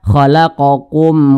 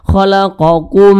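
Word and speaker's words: خلقكم: tidak didengungkan jelas bacanya ini dibaca khalaqokum walladzi nah seperti itu jangan pula dibaca seperti ini khalaqum nah salah ini kasihkan belagu khalaqokum nah salah ya khalaqokum khalaqokum walladziina seperti itu mim mati ini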